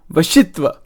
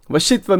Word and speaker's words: vashitva: eighth siddhi is pron is spelled v a s i t va vashitva vashitva means subjugation the power to